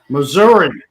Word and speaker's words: Missouri: Missouri. Ah, it's pronounced with an A.